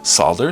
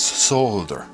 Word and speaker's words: solder: Yes, where you live the L is silent. That's okay. Do it your way. But do know that other people pronounce it differently. Sometimes it's sad. Sometimes it's solder, sometimes it's solder.